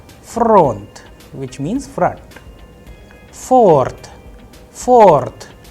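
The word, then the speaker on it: фронт: So in case of front, it has only one vowel, that is O, of course. So the udarenie or the stress is on O, that is why the sound of O is under stress, and I am pronouncing with higher pitch on O.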